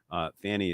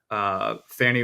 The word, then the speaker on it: Fani: Fani is pressing for. I know she wants it pronounced Fani, but and I once again issue the Fani challenge.